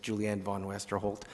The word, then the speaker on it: Julianne Von Westerholt: Chair, if you'll just indulge me, because I mispronounced her name, I'm going to give it another crack, but it was Julianne Von Westerholt.